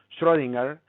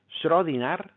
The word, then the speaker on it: Schrödinger: En el caso de Estados Unidos es Schrödinger, en el caso del alemán sería Schrödinger, es decir, casi como una nar al final, Schrödinger, y en el caso del Imperio Austrohúngaro se pronuncia muy parecido a como lo diríamos en español, Schrödinger, que sería la forma como normalmente se conoce popularmente.